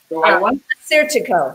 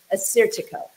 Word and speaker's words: Assyrtiko: Assyrtiko. That one's easy to remember. It's like assertive. Assyrtiko.